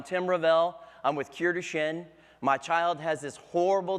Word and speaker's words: Duchenne: So most people don't even know how to pronounce the word Duchenne. They think it's Duchenne. What's Duchenne? So we have to educate these people and explain to them that it's Duchenne muscular dystrophy, and that about 300,000